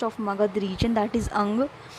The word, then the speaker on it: Anga: Magad region, that is Anga. In English, we used to say that Anga, but in Hindi we pronounce it as Ang.